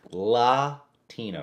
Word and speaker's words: Latino: Latino, that's the correct way to pronounce it.